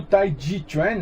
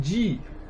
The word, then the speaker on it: Tai Ji Chuan: Então, assim você tem uma pronúncia um pouco melhor. Você vê que o Tai Ji Chuan é Ji. Ji, supremo. Né? Não é Chi de energia.